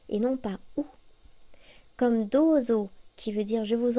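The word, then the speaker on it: どうぞ: Comme dozo, qui veut dire je vous en prie, ce n'est pas douzo, c'est bien dozo.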